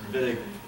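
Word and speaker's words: Wittig: to do it quickly viig looks like whittig but the Germans pronounce it viig um anything in the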